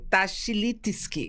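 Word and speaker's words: Tachlitsky: Aqui no estúdio estamos recebendo o coordenador da Federação Israelita de Pernambuco, o Jader Tashilik. Até o final desse programa eu vou aprender a pronunciar esse nome, viu? É Tashilitsky. Isso.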